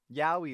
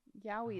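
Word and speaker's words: Yaoi: Yahi is women. Yuri is women. Yahi is men.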